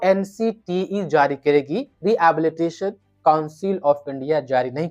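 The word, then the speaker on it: Rehabilitation: रिहैबिलिटेशन नहीं बोलना है, एच वहां पर साइलेंट है।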